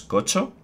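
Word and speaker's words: Qocho: los Mangalai y los Kocho. La Q en China se pronuncia como CH, o sea que sería Cho, etcétera.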